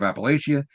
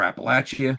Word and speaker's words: Appalachia: So we have the West Express, the Runaway Beer Truck, the Vampire of Appalachia, or Appalachia, depending on how you want to pronounce it, where you're from, and the Amityville Horror.